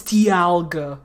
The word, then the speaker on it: Dialga: supposed to be like dialga people pronounce it dialga even though the pun is dial guh like the dial of a clock but no no it's dialga because you so it's whatever